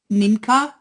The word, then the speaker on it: Nienke: No, but I cannot make a big issue out of it because my name is really 100% Dutch. And I always say I have my Starbucks name. It's Ninka. It's Nienke.